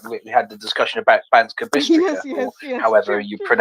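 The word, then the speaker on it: Banská Bystrica: English speakers, we are not used to different pronunciation. But yeah, you are saying it right. It's Banska Bystrica, but it's otherwise it's perfect.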